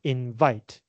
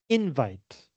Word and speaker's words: invite: it's pronounced differently also as a verb we put the stress on the second syllable invite but as a noun we put the stress on the first syllable invite so the parts of